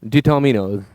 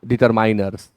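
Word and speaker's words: determiners: अब इसलिए बार बार पढ़ रहा हूं क्योंकि मैंने अभी तक सुना है लोगों ने इसे प्रोनाउंस किया डिटरमाइनर्स, डिटरमाइनर्स। बिल्कुल गलत है। आप पढ़ें डिटर्मिनर्स, डिटर्मिनर्स, डिटर्मिनर्स। डिटरमाइनर्स या डिटरमाइनर्स बिल्कुल ना पढ़ें।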